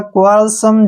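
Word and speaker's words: quell: क्यू यू का उच्चारण हम क्व करते हैं, ठीक है, और ए को ई को हम ए लिखेंगे और डबल एल को ले लिखेंगे। क्वेल, क्या पढ़ेंगे इसको?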